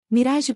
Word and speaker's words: mirage: Mirage pronúncia-se Mirage, disse Valcamente, pegando seu chá e seus feijões.